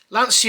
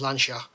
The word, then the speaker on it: Lancia: petrol head with lancia lancia is the way everyone in the uk says it but the correct pronunciation is lansha um if you're watching